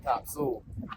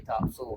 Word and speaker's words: Topsail: in and started saying Topsail. So you know if somebody's local if they say Topsail, not Topsail. Topsail's what the tourists call it.